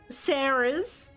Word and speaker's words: Sara: yeah most most um most western Sarah who spell their name s a r a will pronounce it Sarah however my name is Sara in the Japanese it's a kind of